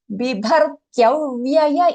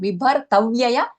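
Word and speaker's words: बिभर्त्यव्यय: This particular word, very commonly mispronounced. So make sure you get this right. Not bibhartavyaya, kyavyaya. Okay, bibhar. Bibhar, B-I-B-A-B-H-A-R, bibhar, tyavyaya. T-Y-A, tya, right? T-Y-A-V. Take that. Tyavyaya.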